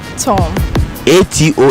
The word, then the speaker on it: tomato: o m is pronounced Tom a t o is pronounced at all put the two together tomato tomato tomato tomato